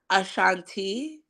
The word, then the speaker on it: Ashanti: How you pronounce her name again, Sing? Ashanti.